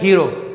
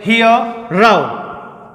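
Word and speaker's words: hero: हीरो, क्या बोलते हैं, हीरो, जबकि इसका प्रोनाउंसिएशन हीरो गलत है, हियर राव, हियर राव, हियर राव।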